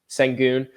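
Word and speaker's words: Şengün: How do you say his last name? Sangun.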